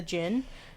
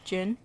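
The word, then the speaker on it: djinn: Islamic folklore is the Gin also spelled as DG or excuse me d-j-i-n-n I think it's still pronounced Jin yeah it's still gin yeah or Genie um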